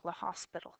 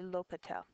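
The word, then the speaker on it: L'Hôpital: LEL by the way latel is a a French name and that's why it's not um pronounced quite the way you might think La hospital it's actually LEL all right so since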